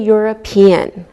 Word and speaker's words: European: like a wise sound same with a European we don't pronounce we pronounce the e and it sounds like a Y okay let's look at